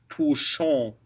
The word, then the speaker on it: touchant: So that's ou, touchant. ANT is the same as AN.